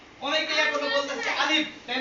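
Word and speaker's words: ألف: তাহলে উপরের শব্দটা কি আলিফ কি হচ্ছে আলিফ আলিফ আলিফ আলিফ আলিফ শেষে ফার মতো উচ্চারণ হবে শেষে কিসের মতো উচ্চারণ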